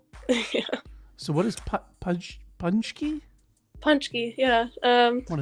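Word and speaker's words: pączki: yeah i know this is pachkey punch gear punch key okay and so here on your little uh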